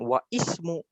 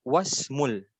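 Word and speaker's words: وَاسْمُ: Jadi dibacanya bukan wa ismu tapi wasmul. Kenapa? Karena ini namanya adalah hamzah wasol gitu.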